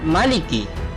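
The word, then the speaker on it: مَلِكِ: Selanjutnya pada ayat kedua, kata yang sering keliru ada pada kata maliki. Jadi huruf mimnya dibaca pendek. Ketika dibaca panjang, Maliki itu terdapat Fatihah.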